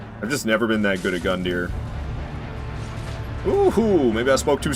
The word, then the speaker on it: Gundyr: That's how everyone calls him Gundyr. It's not Gundyr. It's Gundyr.